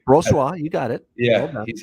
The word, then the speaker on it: Brossoit: I agree that Brossoit, or however you pronounce his name. That's right, Brossoit.